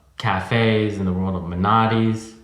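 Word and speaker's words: Menotti's: and the world of manatis am I pronouncing it right yeah mantis Pilates Bugattis and then uh and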